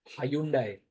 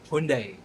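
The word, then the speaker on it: Hyundai: Hayundai. Yes, Hayundai. So, okay, I need another refresher. And by refresher, I mean a quick one. So, give me a moment. It is it is pronounced as Hundai Hundai.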